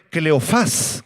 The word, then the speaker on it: Cleofas: discípulos era de nombre cleofas con acento en la a que significa hijo de